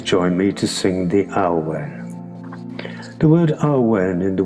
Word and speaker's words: Awen: We chant the Awen 3 times, and the word is chanted as 3 syllables. A, U, Wen.